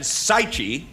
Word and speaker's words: Saichi: And with me, I have Jan Saichi, rhymes with Tai Chi.